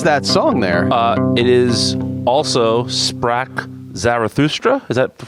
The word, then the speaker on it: Also sprach Zarathustra: It is also Sprach Zarathustra. Is that the correct pronunciation?